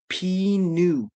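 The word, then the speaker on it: pneu: In Quebec, the tire shops are called P new uh but it's spelled penis.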